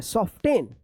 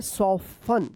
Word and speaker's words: soften: SOFTEN, क्या पढ़ेंगे, सॉफ्टेन। आप ऐसे पढ़ रहे होंगे सफ्टेन, लेकिन सॉफ्टेन ये गलत उच्चारण है। क्या पढ़ेंगे, सॉफन, सॉफन।